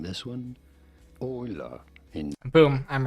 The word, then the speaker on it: Euler: How do you go about pronouncing this one? Euler.